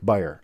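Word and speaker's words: Beyer: a whi here so I think it's buyer like you buy something but it may not be let me know the proper pronunciation of your name like buyer okay got it okay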